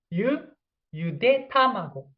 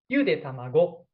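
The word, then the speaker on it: ゆで卵: And also, if I pronounce correctly, yude tamago, yude tamago. So this is correct pitch accent. But if you have wrong way, yude tamago, it means boiled grandchildren.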